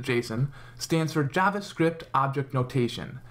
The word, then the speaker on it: JSON: Jason or Json depending on who you ask however the creator of Json pronounces it Json stands for JavaScript object